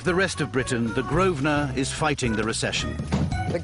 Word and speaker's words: Grosvenor: You don't pronounce the S. Grosvenor.